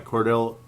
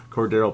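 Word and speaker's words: Cordarrelle: hope you enjoyed my Cordell Cordo Cordo apparently Rick Steelman couldn't say it right the whole freaking time shame on him Cordo Patterson uh Rave not rant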